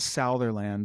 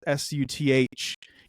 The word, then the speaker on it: Sutherland: Yeah, it's not Southerland like some people think it is. I'm not a country singer. It's Sutherland. Spencer.